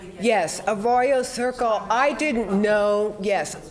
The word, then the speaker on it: Arroyo: oh oh the T you want me to pronounce it so that is a dry like a g a royal yes a royal Circle I didn't know yes I didn't know